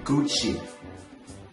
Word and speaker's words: Gucci: 卡地亚 Cartier, Cartier, 爱马仕 Hermes, Hermes.记住那个 H 一定不能发音因为法语里面 H 是不发音的所以不能读成 Hermes LV Louis Vuitton Louis Vuitton Gucci Gucci Gucci 千万千万不要读成 Gucci Gucci 呢在美国的话是女人的那所以一定要读成 Gucci Gucci Burberry Burberry